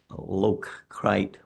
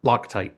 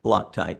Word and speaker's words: Loctite: the incident was the vendor's failure to apply low crite Loctite Loctite yes sir that's that's the way it's pronounced yeah uh threat Locker on the threaded